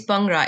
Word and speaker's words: Bhangra: It's Bhangra. It's actually like Punjabis will say it's almost like you. Imagine it starts with the letter P.